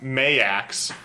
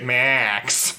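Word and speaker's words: Maax: name is m-a-a-x and it's supposed to be pronounced mayax but I swear to God there are so many instances where they just say Max Max it's really inconsistent like every character will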